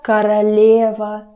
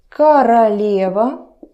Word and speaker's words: королева: Это королева Елизавета. Это королева. Королева. Again, I'm never getting tired of saying about it. Vowel reduction. Королева, not королева. Open your mouth.